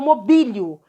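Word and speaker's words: mobílio: ele ganhou acento agudo então primeira pessoa presente do indicativo eu mobilio para algumas gramáticas teria o acento nube seria a sílaba forte isso não quer dizer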